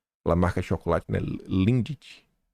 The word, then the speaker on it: Lindt: Lindt. É assim que se pronuncia.